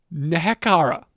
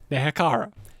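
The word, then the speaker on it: Nehekhara: So, this is where they would meet the name I hate trying to pronounce. Nekara. excuse me. No, Nehakara.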